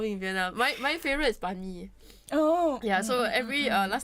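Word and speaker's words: bánh mì: Banh mi?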